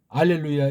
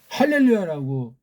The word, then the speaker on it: 할렐루야: 할렐루야라고 읽어야 맞습니다. 구약에 할렐루야라고 이렇게 소리가 나기 때문에 그렇습니다.